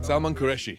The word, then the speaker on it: Salman Qureshi: Salman Salman Qureshi.